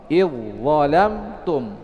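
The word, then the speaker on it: إِذ ظَّلَمْتُمْ: Contoh idzalamtum. Jadi dza tidak terbaca kata beliau hafizahullah. Dza dari hamzah langsung kita berpindah ke huruf dha. Ya, tidak terbaca lagi huruf dzalnya.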